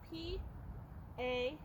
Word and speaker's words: pastern: Sounds like pasture, but that's not how you spell it. You spell P-A-S-T-E-R-N. Pastern.